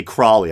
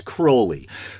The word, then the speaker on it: Crowley: rituals inspired by Alastair a lot of people say Crowley I believe the proper pronunciation is Crowley who founded the religion